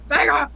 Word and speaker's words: Sega: I know it has an E, but if you listen to the commercials, it's Sega. It's Sega. It's Sega. It's not Sega.